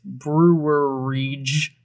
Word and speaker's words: Brouwerij: brewery west spelled the dutch way it's brewer rege west uh it's confusing to look at but listen if you're like me you're going to find a bunch of different examples on how to pronounce it online i suggest you just go to the brewery website it's much easier i heard brows i heard i heard broward i heard all of it and i was just